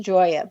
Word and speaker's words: Gioia: And I want to spell your last name for everyone because it's pronounced Gioia, but it's spelled G-I-O-I-A.